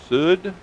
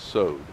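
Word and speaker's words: סוד: and some pronounce it Sud, some pronounce it Sod. If you look at the Hebrew spelling there, it's Sod, based on the way that I've learned Hebrew.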